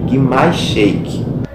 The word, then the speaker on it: Grimace Shake: ok então vamos aqui pro capítulo um mais Shake Essa é a pronúncia entendeu que mais Shake então sem Muita